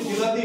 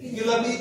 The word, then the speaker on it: বিলাতি: তারপরে আমরা এটাকে টমেটো বলি, ওটার নাম হচ্ছে বিলাতি বেগুন। হ্যাঁ, পরে ওই বেগুন কথাটা উঠে গেছে, বিলাতি নামে আমরা জানি। তো এটা অনেকে আবার বলবে, কলকাতার আশেপাশের লোকেরা এটা উচ্চারণ করে বিলিতি।